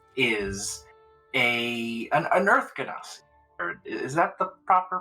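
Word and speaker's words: Genasi: yes uh carus is a an an earth ganos is that the proper pronunciation yes yeah yes ganasi okay uh but yes she is a 61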